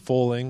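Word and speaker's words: Fowling: Yeah, it's actually pronounced foaling, like bowling with an F.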